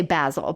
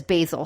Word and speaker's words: basil: from the UK and my friends who speak English that are in Europe say basil but everybody I know in the states says basil so I think just one of those pronunciation I found it funny